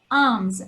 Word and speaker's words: alms: This is alms. L is silent and the S should be pronounced with Z sound, children.